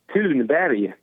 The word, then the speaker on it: Thunberg: Do you want to know how to pronounce her last name, correct? Yeah. Thunberg.